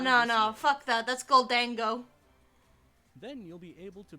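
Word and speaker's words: Gholdengo: That's Goldango.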